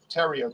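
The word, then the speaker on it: Theriot: know my nickname terrio t-h-e-r-i-o-t looks like the riot my last name is spelled the riot but it's okay you know it's french somebody stick it in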